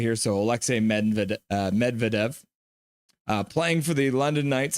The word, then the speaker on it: Alexei Medvedev: So Alexei Medvedev, as you can see, they have it written phonetically here. So Alexei Medvedev, playing for the London Knights, as I mentioned.